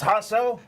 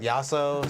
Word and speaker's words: Jasso: think that they are how do you pronounce your last name hustle I've been mispronouncing this well thanks hoso uh oh dude you haven't corrected me once in three years I went all of high school being called yaso so I don't give